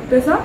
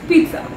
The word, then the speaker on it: pizza: The third one is your favorite, that is pizza, it's not pizza, it's with a little bit of t, so it's pizza.